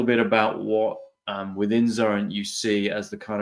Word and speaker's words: Xurrent: of the company first of all you've already pronounced it properly as zuren and what is this crazy madeup word mean